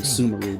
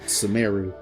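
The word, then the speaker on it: Sumeru: Sumaru. That's I was saying Sumaru, but Sumeu.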